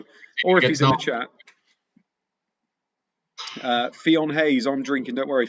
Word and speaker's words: Fionn: Don't forget to pronounce Fionn properly again. How do you say Fionn? Fionn Hayes. Fionn.